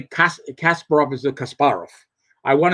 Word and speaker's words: Kasparov: They put the accent on the wrong syllable. You know, now I'm a hardcore fanatic. When I hear people say Kasparov is a Kasparov, I want to hear Kasparov.